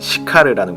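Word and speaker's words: Sychar: 중동 발음으로 이 수가는 시카르라는 곳인데요.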